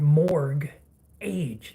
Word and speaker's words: mortgage: love and spirituality the word mortgage what letter is silent in the word morg age the day and age that we live in